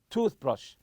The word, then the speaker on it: toothbrush: your toothpaste and toothbrush so toothpaste and toothbrush are compound nouns and we stress the part of the tooth you say toothpaste toothpaste or toothbrush lastly here I'll look for